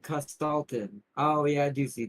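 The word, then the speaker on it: Kostaltyn: So, Castellian. Oh, he pronounces it Costalin.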